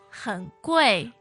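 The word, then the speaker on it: 很贵: Now the answer was 不是很贵，不是很贵 now the word 贵 meaning expensive expensive and very expensive. 很贵很贵. Yeah, third tone 很 Yes, and fourth tone for 贵.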